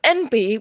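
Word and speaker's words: enby: way it's spelt because although it's pronounced n b as in the initials for non-binary it's written e-n-b-y and i always think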